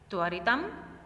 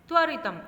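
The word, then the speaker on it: त्वरितम्: शीघ्रतया शीघ्रतया, त्वरितम त्वरितम। अब देखो यहाँ पर म हलंत है, याद रखना म हलंत है तो तुरंत ही म को इतना लंबा नहीं खींचना है।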